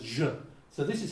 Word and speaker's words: y: The letter Y in Argentina is pronounced je.